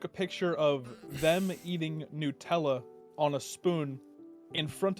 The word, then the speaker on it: Nutella: Did you call it Nutella? How do you say it? Nutella, because that's what it is. It's nuts. It's made of nuts.